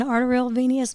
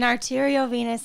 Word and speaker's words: arteriovenous: something called an avm it's an arterial venous malformation or how do you say it an arteriovenous malformation okay for some reason i thought i was saying it right the whole time and i guess i wasn't but um that happened